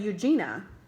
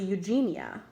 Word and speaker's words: Eugenia: Eugenia and here's baby I just learned I always cut said Eugenia it's actually Eugenia I've been saying it wrong at the Lincoln sister's